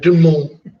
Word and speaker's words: Du Monde: There's no D pronounced though. It's gonna be Du Monde.